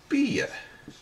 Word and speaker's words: bia: It's mostly pronounced iya. Certainly at the beginning of a word, it's pronounced iya. Couple of samples for you. Bia, food. Gia-rich, gia-jich if you like.